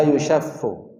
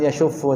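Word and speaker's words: يُشَفُّ: Nah, bacaannya yushaff bisighatil mudhari' al-majhul. Sighahnya, lafal pengucapannya dengan bentuk fi'il mudhari' yang majhul. Yushaff, la yushaffu. Bukan yashuffu tapi la yushaff, la yushaffu.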